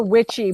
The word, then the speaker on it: Wyche: They're called Dr. Witchy, but Witchy is spelled like WYCHE.